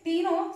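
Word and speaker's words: Cteno: ठीक है, फिर टीनो सी साइलेंट होता है यहां पे तो टीनो यूज किया जाता है, तो 10 टीनो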